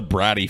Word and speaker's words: Brat: He is a bratty fuck. Look at him. His name is pronounced Dave Bratt.